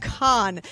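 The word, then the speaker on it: Kan: In this book, we will meet our morally gray FMC rave, and our fiercely beautiful MMC Con. Yes, that's con pronounced just like our con except for this one's K A N.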